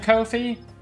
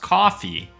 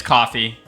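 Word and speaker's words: Ko-fi: Yes, the website/service Kofi is pronounced coffee in the same way you would say coffee. The name is a friend. Thank you AI by the way. Okay. Yeah, it's coffee.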